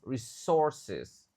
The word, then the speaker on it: resources: A dibaca E lagi of resources. E dibaca I resources. U-nya enggak dibaca di sini. U-nya silent.